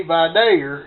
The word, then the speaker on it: Vidalia: And as you notice, I say Vidalia, and that's how you say it, because I know people from there.